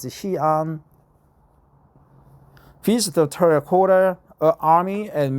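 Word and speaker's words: Xi'an: uh Capital right hean the Chinese pronunciation is hean visit the terracota Army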